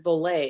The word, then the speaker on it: Voler: an american company and it's pronounced volley and it means to fly in french so that is the